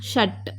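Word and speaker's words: ष: Next ஷ, ஷ இப்படி உச்சரிக்கலாம், ஷட். நெக்ஸ்ட்டு ஷவும் இதே மாதிரி தான் வரும், கொஞ்சம் டங் கேர்ல் பண்ணி உச்சரிக்கணும்.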